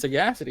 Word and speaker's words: sagacity: It's sagacity. It's how you pronounce it.